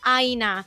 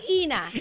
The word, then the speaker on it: Ina: to get people to stop calling me Aina after it's in their head. You guys, it's Ina. Ina. Rhymes with Tina, right?